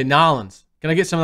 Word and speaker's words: New Orleans: You gotta say it right. You don't say New Orleans. You say Nolans.